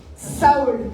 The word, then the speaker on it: Saul: oui, mais après, ça se prononce pas la même façon. Saoul, c'est ancien. Saul, c'est nouveau.